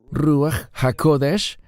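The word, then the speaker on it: רוח הקודש: de la Trinidad Baruc Cómo se pronuncia Espíritu Santo en hebreo rúa jacodesh el Espíritu Santo es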